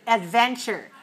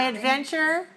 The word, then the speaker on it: adventure: often dangerous trip okay how many syllables are there in the word Adventure adventure adventure three and where's the stress three two three two Adventure add then two just three okay four